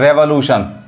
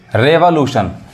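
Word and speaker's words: revolution: सीखेंगे वर्ड क्या है रेवोल्यूशन अब रेवोल्यूशन इट्स रेवोल्यूशन many people miss pronounce this word they pronounce as रिवोल्यूशन नॉट रिवोल्यूशन इट्स रेवोल्यूशन मैं आपको उच्चारण भी सिखाऊंगा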